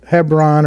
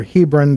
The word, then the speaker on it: Hebron: And then just a little south, about 20 miles, another town we'll come to know as Hebron or Hebron, depending on how you want to pronounce it.